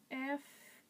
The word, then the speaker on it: Fermanagh: But to break that up, to help you, you would pronounce it as Fur as in F-U-R, Man as in M-A-N, and then Na as in N-A. So you would say Fermanagh.